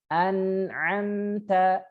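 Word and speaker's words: أنعمت: An'amta, silahkan diikutin. An'amta. An'amta. Tidak boleh memantul ya, nunnya ane. Nah, ini kesalahan. Nanti bisa disampaikan ya pada saat murid mencontohkan, ada salah misalkan. An'amta, silahkan. An'amta.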